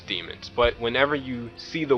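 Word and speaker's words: daemons: sure it's demons and they even pronounce it as demons but whenever you see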